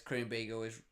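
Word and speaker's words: Krumbiegel: It says Krumbeigel is right pronounced.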